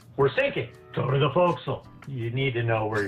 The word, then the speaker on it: forecastle: I texted you, but a forecastle is actually called a forecastle.